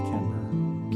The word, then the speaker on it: Kimber: Kimber. Even though it's spelled. Not Kim, bitches. It's Kimber. Kimber.